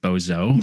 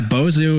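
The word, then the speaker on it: Bozho: get it right because in my head I always want to pronounce it Bozo, like the clown, but no. Yeah, Boozu is our resident sea serpent here in Madison.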